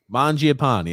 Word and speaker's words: Mangiapane: Grump, how do I pronounce this name again? Mangiapane.